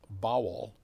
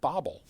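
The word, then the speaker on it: Bawel: b a w l but his it was pronounced bowel but people would pronounce it Bobble so it just seemed to fit together that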